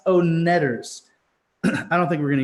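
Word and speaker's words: Oneders: song and movie one-hit wonder the heat like full-on one-hit wonder that thing you do the o-neders the own leaders not the Wonder Co net is pronounced own netters I don't think we're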